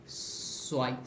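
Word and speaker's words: zwei: আমরা জানি কোনো সেট হচ্ছে কি, কোনো ইংলিশ কোনো শব্দের শেষে যদি টিএস যেরকম উচ্চারণ হয় ওই রকমভাবে উচ্চারণ হয়, র্যাটস ব্যাটসের শেষে টিএস যেরকমভাবে উচ্চারণ হয় ওরকম উচ্চারণ হবে, সোয়াই, সোয়াই।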